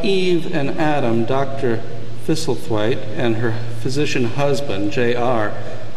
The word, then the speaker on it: Thistlethwaite: piece of paper, and just perfectly, she says, Thistlethwaite. And I was just about to say, how well you pronounce that, and she says, Thuthen.